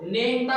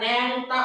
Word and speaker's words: নেংটা: এখানে আমার আবার বুঝো কিন্তু নেংটা হচ্ছে না ন্যাংটা করছি ট্যাংরা হচ্ছে না ট্যাংরা